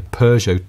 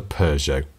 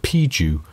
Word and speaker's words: Peugeot: He says it was a Peugeot. Wow. He says, but I was not alone in mispronouncing the brand. In Nigeria, people said Piju.